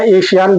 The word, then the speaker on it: ASEAN: देखो, इसको कई लोग आसियान बोलते हैं, एशियान बोलते हैं, है ना। तो ये देख लीजिएगा आप अपने हिसाब से प्रोनाउंसिएशन इसका। ठीक है, और मैं जो बोल रहा हूँ, मैं तो आसियान ही बोल रहा हूँ।